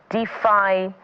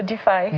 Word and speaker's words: DeFi: Sarah Idahosa is the founder of DeFi, Women in DeFi, and she joins us right here in our Lagos studio.